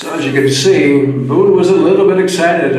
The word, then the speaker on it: Bun: B-U-N is Bun, as we would pronounce it, but it's Boone is what they would say.